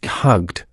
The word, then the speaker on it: hugged: And one more, hug. The last sound is k, voiced. The past tense is hugged, pronounced hugged. Repeat after me, hugged.